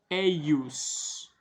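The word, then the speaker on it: ejus: filum eus unicum então filum eius o J com som de i domin nostrum qui conceptus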